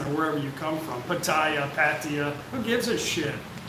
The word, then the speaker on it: Pattaya: wherever you come from pattaya patia who gives a as long as i understand you but in thai language it's pattaya so if that annoys